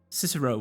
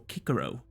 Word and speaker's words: Cicero: bring a man's eye cicero or kikero if you pronounce it the right way i don't want the